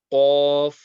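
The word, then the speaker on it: ق: Fa, Qaf. This comes from the back end of the tongue being raised.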